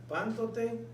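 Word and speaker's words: πάντοτε: Ok, pántote. Tiene la fuerza y tiene la tilde ahí.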